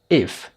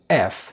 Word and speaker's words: F: الحروف اللي أولها ناس كتير بتنطقها غلط، زي مثلا الحرف ده اسمه اف. ما تقولش if. لو قلت if فانت قصدك الكلمة دي، انما الحرف اسمه f.